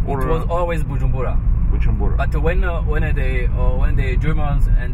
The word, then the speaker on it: Bujumbura: Bujumbura. But when the Germans and the Belgian came. So they couldn't pronounce correctly Bujumbura. So they were pronouncing Usumbura.